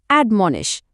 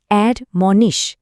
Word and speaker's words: admonish: প্রথমেই এর উচ্চারণটা খেয়াল করুন। অড মনিশ দেখুন মাঝখানের মন অংশটার উপর কিন্তু বেশ জোর দিতে হবে।